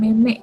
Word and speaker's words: meme: Meme, orang biasa bilang meme gitu kan. Padahal pengucapannya apa? Meme, ya. Ini namanya meme.